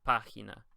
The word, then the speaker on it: página: You can see that they don't put the stress on the second to last syllable, and so they give you a little accent to tell you, hey, this is where the stress is, right here.